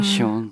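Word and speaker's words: Zion: 숙소 있는 데 있고 자이언 캐년. 자이언은 시온이라고 발음하는 게 맞다 그러더라고요. 시온.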